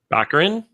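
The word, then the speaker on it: Baccarin: is that you spell is that how you pronounce her name bakrin bakrin right she's Brazilian so it's her name's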